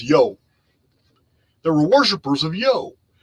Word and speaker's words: Io: worshippers of IO I IO is actually pronounced yo they were worshippers of